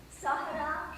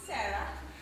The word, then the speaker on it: Sahara: Sahara Shan. Most people here pronounce it Sarah.